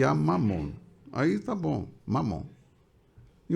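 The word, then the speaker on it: ממון: Mamon é uma palavra hebraica, está aqui transliterado, mas a pronúncia é essa mesmo, Mamon.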